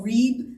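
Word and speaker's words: ריב: are lots of little what we call reeb which means contemption contention it's spelled like rib um hosea four one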